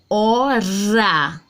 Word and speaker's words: hora: Nós não lemos, nós não pronunciamos o H, porque o H não tem som, ok?